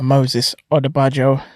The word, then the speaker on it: Odubajo: Okay, on this week's episode of On the Judy, we have Moses Odubajo. What's happening, mate? What's going on? You pronounced it right.